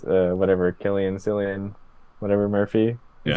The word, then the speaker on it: Cillian: not I don't know but it is it's pronounced Killian I've always thought I've always read it and heard it as Killian yeah that's cool but I've also heard people call him silliam before but his name is Killian because I've